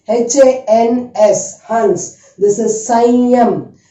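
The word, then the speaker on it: संयम: This is Sanyam. Sanyam.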